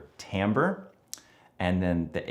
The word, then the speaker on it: timbre: Okay, so the T, the first T in THRIMPS is timbre. You get that timbre, it rhymes with amber, that's how we pronounce it.